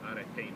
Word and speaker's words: arete: Anybody from a philosophy introductory course know what arete means? Huh? Alpha rho epsilon tau eta, with an accent on the eta.